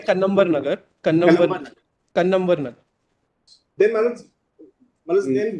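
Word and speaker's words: Kannamwar Nagar: It's Karamvar Nagar. No, it is pronounced as Kannambar Nagar.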